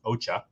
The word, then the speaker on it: OCHA: coordination of humanitarian Affairs OA or pronounced Ocha um IT issues every